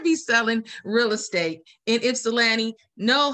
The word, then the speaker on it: Ypsilanti: you're going to be selling real estate in ypsilanti know how to pronounce the name we are very sensitive to what that word means uh it is it's cilanti and um i had this little video on